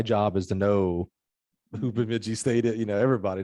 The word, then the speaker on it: Bemidji: either know their mascot or even how to pronounce their name. Bemidji State came up, and I was like, oh, Bemidji.